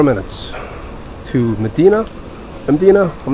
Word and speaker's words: Mdina: way you pronounce it there's no e between m and d but I think it's Medina um supposed to be